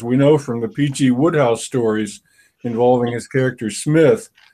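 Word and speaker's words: Wodehouse: Well, but of course you're talking about an author who couldn't pronounce his own last name either. I mean, everyone knows it should be Woodhouse.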